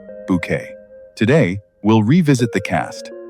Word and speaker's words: Bucket: social climbing world of Hyacinth Bucket, pronounced Bouquet.